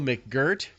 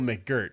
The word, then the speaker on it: McGirt: Also signing defensive back Herb Waters, offensive lineman Emmanuel McGirt. That is how you pronounce it. Emmanuel McGirt.